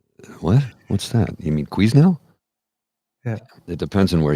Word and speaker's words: Quesnel: can you tell me how to get to Canal? It's like, oh, you're not from here, are you? Quesnel. Canal. What? What's that? You mean Quesnel?